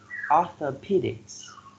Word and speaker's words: orthopedics: six we have orthopedics arthropedics four syllables and the third syllable receives the stress orthopedics you mess with f